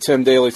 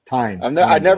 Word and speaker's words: Tyne: Oh yeah, and Tim Daly's sister in the MCU later. Tim Daly, right? Tyne Daly? Tim Daly? Tyne.